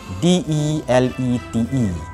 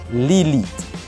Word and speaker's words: delete: Perkataan yang ketiga ialah perkataan DELETE. Sebutnya ialah delete. Okay, pronunciationnya ialah delete. Ada orang yang menyebut lilith. Lilith. Yang bermaksud padam. Dia sebut lilith. Itu salah.